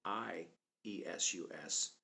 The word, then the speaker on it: Iesu: of the original spelling, I-E-S-U-S, in the Geneva Bible, and the original spelling in the Greek of iota, eta, sigma, omicron, upsilon, sigma. And that name should be pronounced Iesu.